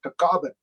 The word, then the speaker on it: Tagaban: And I'm also part Filipino, and so my last name, Tagaban, in the Philippines is pronounced as Tagaban.